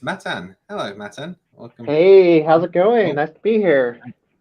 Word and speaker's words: Matan: How'd you pronounce it? No, Matan.